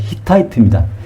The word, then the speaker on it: 히타이트: 헷 족속을 영어식으로 발음한 것이 히타이트입니다.